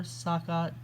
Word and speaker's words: Sacagawea: Even though her name is spelled with a hard G, most people call her Sacagawea with a J.